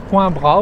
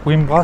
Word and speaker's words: Coimbra: Bon, aujourd'hui, donc, nous sommes à Coimbra ou Coimbra, on ne sait pas trop bien, je crois Coimbra, c'est la prononciation ouais, c'est ça.